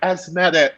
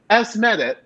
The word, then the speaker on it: Asmeret: So now, like I make it a point to be like, Asmeret just so that I can like this like.